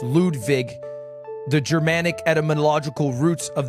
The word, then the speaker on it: Ludwig: screen maybe yeah sure boom my name is pronounced lude Vig it's the correct correct correct pronunciation I think